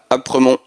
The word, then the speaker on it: Aspremont: And then once you're at Aspremont, I don't think you pronounce the S, Apremont.